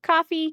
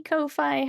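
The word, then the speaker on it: Ko-fi: So, coffee kofi, however you want to pronounce that.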